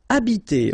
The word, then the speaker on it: habiter: Okay, remember that in French, the H, like that here, is not pronounced at all. Okay, so you don't pronounce it, so you get the first sound is the vowel A here.